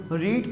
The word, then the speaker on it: read: First form पढ़ते हैं रीड, second form रेड, और थर्ड फॉर्म भी रेड पढ़ते हैं, लेकिन RED वाला रेड नहीं, READ रेड।